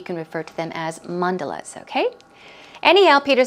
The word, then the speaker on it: mandalas: windows and then she says with the mandela's mandalas sorry stress goes there Mondelez was a word